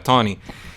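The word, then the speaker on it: Taney: y sex un hombre se escribe como tawny pero si por alguna razón rara se pronuncia tony y el después el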